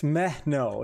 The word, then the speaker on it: Mehno: Yeah, that's right, because I kept saying, how do I say his name? Miho? And it's Mehno. It's Mehno.